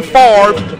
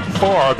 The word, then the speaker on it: Favre: No relation to Brett, and as people will tell you here in Mississippi, the name Favre in Mississippi pronounced the same, even spelled differently, as much like Boudreaux in South Louisiana.